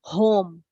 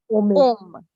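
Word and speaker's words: homme: So you won't pronounce it like home. You will pronounce it like om. Om. Just like this om. In Hindi, if you have seen in temples. Okay. So this is like om. This is not home.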